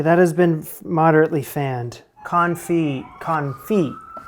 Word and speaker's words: confit: Confit. Don't pronounce the T, Jamie.